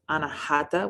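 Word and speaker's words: अनाहत: In Sanskrit, it is pronounced anahata, which means unheard or unstuck.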